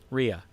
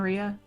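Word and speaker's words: Reja: other girl's name was ria maria it's r e j a but it's pronounced rhea i'll walk over and give her four gold pieces for you and ria for the lost wages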